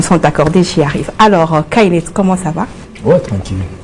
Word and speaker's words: Khayled: Ouais, le nom c'est Kyled. Est-ce que vous entendez ça? Répète d'abord. Kyled. Kyled. Essayez un peu de prononcer à la maison.